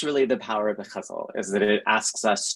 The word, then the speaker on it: ghazal: The ghazal also has different pronunciations. So I learned the ghazal from Agha Shahad Ali, and he insisted that one had to say it ghazal, but I've also spoken to Arabic speakers who say that it is pronounced ghazal in Arabic. So depending on where your ghazal comes from, you can say it in different ways.